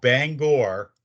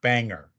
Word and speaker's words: Bangor: Bangor, not Banger.